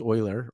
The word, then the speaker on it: Euler: And then when you learn from like a David Euler or Red Euler, but pronounced Euler, or Pony Chung, they give you language too to help with the prophecy.